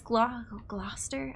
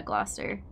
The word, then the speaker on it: Gloucester: Leicester, Leominster, all the ones that have fewer syllables than you would think. Yeah, Gloucester.